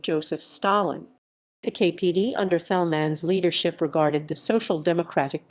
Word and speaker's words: Thälmann: Ernst Thälmann, Ernst Johannes Fritz Thälmann, German pronunciation Ernst Thälmann, 16 April 1886, 18